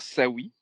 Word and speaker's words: Saoui: Parce D'accord, que mon nom de famille, il y a trop de S, donc les gens bug. Même si d'accord. ça se lit comme ça se prononce, les gens bug. Et j'ai juste mis Sawi pour que les gens ne se trompent pas, ce Sawi, tu vois?